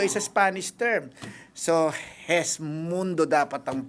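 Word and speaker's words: Gesmundo: So hesundo dapat ang pronounce daw. Ah okay. Hindi hindi guest mundo.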